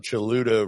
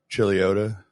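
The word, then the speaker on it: Chuluota: there's an accident on chiluda road I'm like dude you mean chilota because that's how it's pronounced I mean I know it's spelled weird but it's chilota not chuda it's like people try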